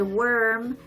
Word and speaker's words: worm: So anytime they'll say warm, their mouth will open wider. So warm. And if they say worm, it's more of an O shape.